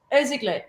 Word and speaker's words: Irsigler: Irsigler.